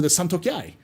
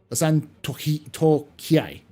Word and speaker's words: Santokiai: And yeah, there's also going to be a lore video for the Santokiai. The Santokiai. That's how you say it.